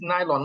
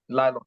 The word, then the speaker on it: nylon: why is made of nylon the word is nylon not Lyon NY long n yes that's the correct pronunciation please correct your there because um even the educated people also pronounce this as um Nyon it's nylon all right well the most important